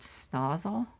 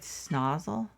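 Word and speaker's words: Snowshill: We were in this, I guess it's a village called Snozzle. I think that's the way they pronounced it. It's actually like spelled Snow's Hill, but I guess they pronounced it Snozzle.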